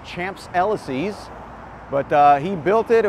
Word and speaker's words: Champs-Élysées: I think it's pronounced Champs-Élysées.